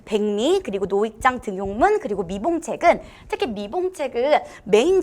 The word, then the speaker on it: 등용문: 자, 이 등용문 같은 경우는 니은 첨가로 발음이 되지 않는 예로도 제가 굉장히 많이 냈었던 아이인데, 자, 그래서 제가 이렇게 얘기 드렸었죠.